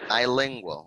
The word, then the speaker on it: bilingual: Whenever you see the prefix bi, that's the way, bi, that's the way we pronounce it. Bi, no B, bilingual, okay?